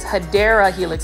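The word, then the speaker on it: Hedera helix: we have another hedra Helix guys actually this hadera Helix I'm going to say it correctly is a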